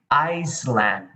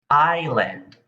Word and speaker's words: island: in thailand you say iceland but that is wrong the correct pronunciation for this is island in english we do not say the s sound the s is silent next more vocabulary look